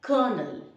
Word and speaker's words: colonel: them the first one this is not colonel or not kernel it is kernel there is no r the rank of an